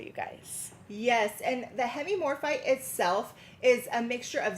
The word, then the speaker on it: hemimorphite: Okay, so we only have 10 of these, and these are going to be our oval cabochons Hemimorphite.